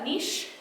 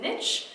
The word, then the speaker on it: niche: There's two ways to pronounce this, niche and niche. I say them both interchangeably, but you want to niche yourself into something.